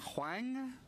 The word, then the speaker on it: Huang: And am I pronouncing your name Huang? Huang. Huang. Yeah. I was right the first time.